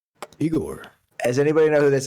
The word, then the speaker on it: Igorrr: of them at all they spell it with three r's but the reason why that's funny is because it makes the name really hard to pronounce because they're french igor and the french r is like weird to english speakers so uh the first